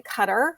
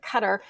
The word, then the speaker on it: Qatar: go and live in Qatar which is most Americans will say Qatar but it's we don't really say it correctly either way but cutter which is just off